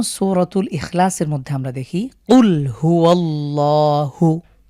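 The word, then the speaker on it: قل: যেমন সূরাতুল ইখলাসের মধ্যে আমরা দেখি কুল হুয়াল্লাহু। তো এই যে কুল ব্যবহার, এটাকে যদি আমরা কফের উচ্চারণ ঠিকঠাক না করি তাহলে এটা হয়ে যাবে কুল।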